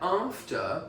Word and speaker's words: after: Okay, now that after is a different A altogether. It's a long A.